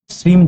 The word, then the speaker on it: श्रीं: श्रीम 2 तरीके से बोला जाता है, मकार लगाकर भी बोला जाता है, गकार लगाकर भी बोला जाता है। मकार का मतलब श्रीम श्रीम श्रीम श्रीम श्रीम म शब्द आ जाता है, और दूसरा गकार लगाकर भी बोला जाता है जिसमें ग साइलेंट हो जाता है, यानी श्रिंग श्रिंग श्रिंग श्रिंग श्रिंग, इस तरीके से।